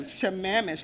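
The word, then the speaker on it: Sammamish: Thank you, Shamamish, like you manage, right?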